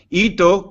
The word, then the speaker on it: hito: Hito, con H, pero fonéticamente sin H, se pronuncia sin H, yo comento muchas veces lo que es la vinculación fonética.